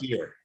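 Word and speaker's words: Byrrh: r h h yeah that's pronounced beer and it was like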